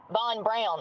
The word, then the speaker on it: Von Braun: I'm learning because I'm learning about Von Braun is how it's pronounced, which is crazy to me.